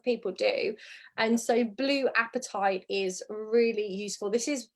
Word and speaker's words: apatite: And so blue apatite is really useful. This is probably, and it's called apatite.